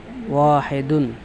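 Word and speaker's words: وَاحِدٌ: ওয়াহিদুন, ওয়াহিদুন ইংরেজি ওয়াহিদুন উচ্চারণ, অর্থ হবে এক, এক।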